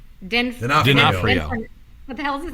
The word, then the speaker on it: D'Onofrio: And then Vincent, I'm going to say this right, D'Onofrio. What the hell is his name? D'Onofrio.